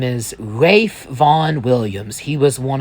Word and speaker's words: Ralph: And you might have noticed his name is spelled Ralph, but since it's a Welsh name, it's pronounced Rafe. Yes, let's let's get into Rafe.